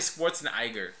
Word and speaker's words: Schwarzenegger: is you do know he said his last name wrong whatever it's Arnold sweat everybody says it way so they deal with it how do you say it then Arnold Schwarzenegger oh man no it's it's actually Schwartz and Iger Schwartz and Niger yep even he said